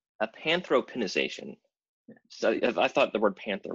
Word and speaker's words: Apanthropinisation: help on that one a panther pitter ization is that you said a panther no a Panthro pen ization I thought the word